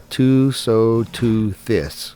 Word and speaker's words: Tusoteuthis: It's called a Tusoteuthis.